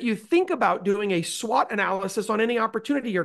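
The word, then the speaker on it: SWOT: on the page a SWAT analysis this is not the SWAT team it's spelled differently s w t but this means strengths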